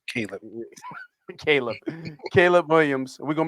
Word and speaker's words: Caleb: So Caleb. I said Khalid. Yeah. You don't have Yeah, I no did. H in there. It's Caleb.